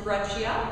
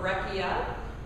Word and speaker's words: breccia: one is conglomerate and one is gretchia or breccia there are different pronunciations for that one and they both have